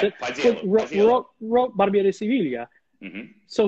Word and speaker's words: Paisiello: Paisiello, whatever it is, I can't remember exactly how you pronounce it. Paisiello.